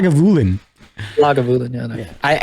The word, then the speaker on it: Lagavulin: Lavulin. It's not how you say it, He's man.